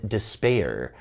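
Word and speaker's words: D'Spayre: and the interference of the demon despair which is spelled D apostrophe s p a y r e so we're really getting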